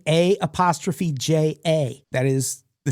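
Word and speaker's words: Aja: Her dad was a huge Steely Dan fan, and her name, A''J''A. That is the name of a Steely Dan album. It's pronounced A'ja.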